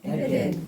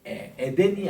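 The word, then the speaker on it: עֵדֶן: 이 명사는 이게 쉐골 이게 나오든가 아니면은 파삭 쉐골이 나오든가 콜롬 쉐골이 나오는 이런 발음들을 앞에 액센트가 있습니다.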